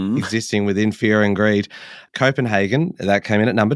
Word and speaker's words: Copenhagen: big on on pronunciations do you say Copenhagen or Copenhagen I say Copenhagen I would have said Hagen but I'm happy to go with hagen oh deep divisions existing within fear and greed Copenhagen that came in at